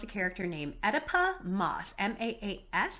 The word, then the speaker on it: Maas: This follows a character named Oedipa Maas, M-A-A-S, I think is how you say it. Maas or Mass is how you say her name.